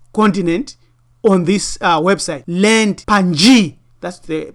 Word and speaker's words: Pangaea: Land Pangaea, that's the pronunciation, which was a supercontinent that existed in Paleozoic and early Mesozoic eras, formed approximately 300 million years ago.